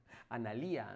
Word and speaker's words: Analía: Eh, mi nombre es Analia con acento en la I. Bueno, pues nada, pues lo siento mucho, no he dicho el acento en la I. Analía, ¿no quieres decir?